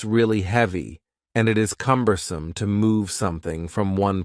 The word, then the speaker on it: cumbersome: The word cumbersome has 3 syllables, and the stress is on the first syllable, cumbersome, cumbersome.